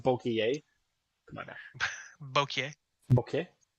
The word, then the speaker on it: bokeh: boking. It's a Yeah. It's a pronounced bokeh.